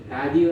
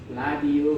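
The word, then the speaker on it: 라디오: उच्चारण गर्दाखेरि के भन्छ, रादियो नभनेर नियमअनुसार रादियो भयो। सरी, रादियो, कोरियनले लादियो भनेर उच्चारण गर्छ। लादियो भनेको रेडियो भन्ने अर्थ लाग्छ। रेडियो। अब नियमअनुसार त रादियो हो, तर कोरियनले लादियो भनेर उच्चारण गर्छ।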